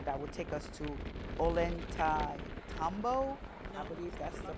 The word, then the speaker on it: Ollantaytambo: So we're making our way from the airport straight to the um bus station that would take us to Ollantaytambo. I believe that's the pronunciation for it because the Inca Rail does not reach all the way to Cusco.